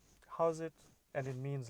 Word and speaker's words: Howzit: So that greeting is called "How's it?" I'm going to say that again. How's it? It's spelled HOWZIT or ZAT.